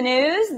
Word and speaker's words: gnooze: Hello and welcome to the gnooze. The G is silent.